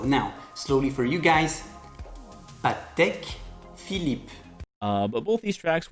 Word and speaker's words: Patek Philippe: there you have it say it slowly patek philippe and again the emphasis on philippe falls on the second